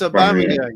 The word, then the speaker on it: Aubameyang: do you think aubameyang it's aubameyang not a boomerang Tony do you think